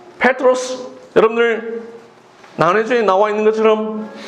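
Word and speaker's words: Πέτρος: 정확하게 헬라어로 발음하면 페트로스입니다. 이 페트로스, 여러분들 나뇌주에 나와 있는 것처럼 반석이라는 뜻입니다.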